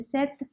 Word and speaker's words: cette: use uh set set there is no difference in the pronunciation of this set then the set both are same okay now some uh